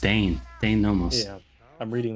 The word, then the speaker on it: Dein: Oh, his name is pronounced Dein.